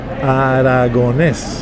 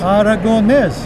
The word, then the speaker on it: Aragonés: Aragonés. Aragonés.